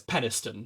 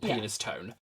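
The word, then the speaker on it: Penistone: town called peniston um oh well it's pedestal but like it's spelled penis tone um what's your penis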